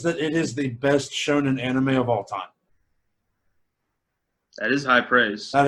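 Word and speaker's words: shōnen: Shonen?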